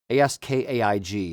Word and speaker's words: Askaig: Askaig is how you say Askaig or spell Askaig.